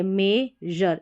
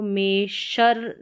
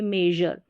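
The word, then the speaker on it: measure: पढ़ा जाता है, तो यहाँ पर A है मेजर, इसको मेशर नहीं पढ़ेंगे, मेजर, मेजर यानी जर करके इसका उच्चारण होगा।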